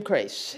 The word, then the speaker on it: Crace: How do you pronounce it? Jim Crace.